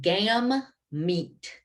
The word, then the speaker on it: gamete: products of meiosis and that word is gam meat because i know that one is hard to pronounce but it's meiosis that